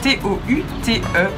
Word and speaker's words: toute: C'est une femme, donc le sujet est féminin, il s'accorde, elle est toute fière, T-O-U-T-E, prononcé toute. Mais elle est toute étonnée. Le mot étonné commence par une voyelle, tout étonné s'écrit donc